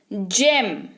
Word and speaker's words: gym: जिम, GYM, जिम, जी के बाद वाई उच्चारण ज, हो गया जिम।